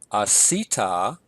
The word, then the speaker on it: asita: We have asita. Notice my accent here is above the second to last syllable.